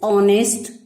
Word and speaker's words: honest: How happy is he born or taught that serveth not another's will, whose armor is his honest thought, and simple truth his utmost skill. Children, let us have some pronunciation drill as well as some word meanings.